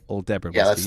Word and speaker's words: Aldebaran: Aldebaran Yeah, whiskey. that's how you pronounce it.